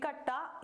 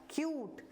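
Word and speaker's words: cute: ट इ का ए तो क्या हो गया क अ ट कट हो गया कटे लेकिन ये क्या है सही क्या है क्यूट क्या है क्यूट क्योंकि लास्ट में ई आ गया है यू के साथ यू के बाद ई आ गया है तो इसको हम ई का साउंड नहीं पढ़के यू का ही साउंड पढ़ेंगे तो क्या पढ़ेंगे हम क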